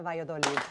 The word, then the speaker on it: Valladolid: please welcome back our good friend chef marcela vayodoli thank you for saying my name so beautifully